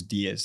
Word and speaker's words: Diez: my last name is Diez. That Diez is like the number 10 in Spanish. The only difference is that with Diez, there's no emphasis on the I, so it's just Diez.